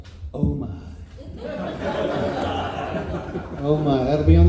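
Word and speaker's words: OMIH: And that is always pronounced oh my.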